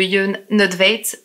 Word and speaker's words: Jon Nödtveidt: Et j'en ai fini de vous raconter l'histoire du groupe Dissection et de Jon Nødtveit. Vous avez vu, hein, jusqu'à la fin, je fais attention à la prononciation.